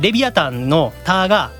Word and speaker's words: Leviathan: Overseas, I think Leviathan's "than" is pronounced with a "th" sound, but in Japan, it's pronounced "ta."